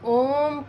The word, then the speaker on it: ओम: हमारा जो होता है, हमने जो अ, उ और म का उच्चारण करना होता है, उसको भी देख लीजिए। ऐसे आंखें बंद रहेंगी, मन सहज, रीढ़ की हड्डी सीधी, इसमें क्या होता है कि अ में आप सीधी आवाज़ लेते हैं, ऊ में आपके जो है ओंठ जो है थोड़े चोंच टाइप के हो जाते हैं, ऊ, और म में आपका जो है मुख जो है बंद रहेगा।